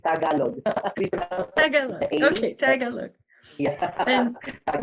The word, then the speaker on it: Tagalog: Yes, it's Tagalog.